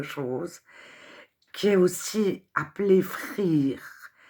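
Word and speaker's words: Freer: qui est aussi appelé Frere, Freur, F-R-E-E-R, en anglais E-E, ça fait I, ça se prononce I.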